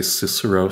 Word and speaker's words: Cicero: other problems too because like we say cicero so the alternative would be like kakuro or something like that all right it doesn't